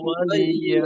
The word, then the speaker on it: ولي: لكم লাকুম দিনুকুম ওয়ালিয়া ولي দিন। دين এখানে ওয়ালিয়া, ওয়ালিয়া, ওয়ালিয়া, ওয়ালিয়া, অনেক সময় হয় কি যে ওয়ালিয়াদিন, লামের জেরের জায়গায় অনেকটা জজমমুখী উচ্চারণ হয়ে যায়, আর ইয়া এর উচ্চারণটা ক্লিয়ার থাকে না।